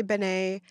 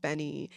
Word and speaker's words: Benee: decided to find out the proper pronunciation and it's benny so if i say benay i'm talking about benny and i apologize for